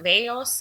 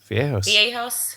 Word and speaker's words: viejos: Veos is how you say elderly. Viejos.